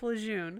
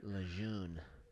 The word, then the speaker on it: Lejeune: know Camp Lejeune yeah sounds like you just pronouncing lagoon wrong no it's Camp Lejeune Lejeune look at this nice